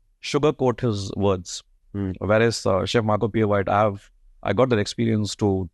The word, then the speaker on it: Marco Pierre White: So did I pronounce it right? Marco Pieri? Marco Pierre White.